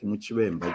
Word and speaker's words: Muchwemba: So she told me, just say it like Muchwemba, just the way it's written.